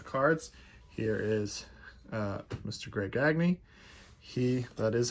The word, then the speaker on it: Gagne: Greg Gagne. That is how you pronounce it.